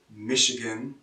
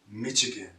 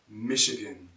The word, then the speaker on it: Michigan: Continuing on, Michigan, Michigan, not Michigan. This ch is a sh, Michigan.